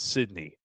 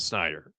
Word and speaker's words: Snyder: I pronounced his last name as Sydney instead of Snyder.